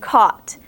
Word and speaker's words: caught: Caught. It sounds like it's caught, right? C-A-W-T or something like that. It's not. C-A-U-G-H-T is how you spell caught.